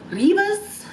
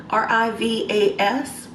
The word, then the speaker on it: Rivas: I think it's pronounced Rivas, R-I-V-A-S. Did I say it right?